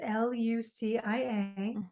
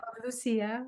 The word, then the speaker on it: Lucia: media so Lucia is l-u-c-i-a the Italian pronunciation uh Lucia or Lucia so Lucia's